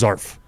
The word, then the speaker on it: zarf: a or is it it's just zarf it's just zrf z-a-r-f oh wait so the word is zarf not as arf surf yeah i said